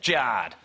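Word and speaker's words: Jarred: Jared is spelled J-A-R-R-E-D. Thanks, Mum and Dad, that's Jard.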